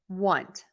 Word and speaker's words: want: Think of it as being spelled with a U, want.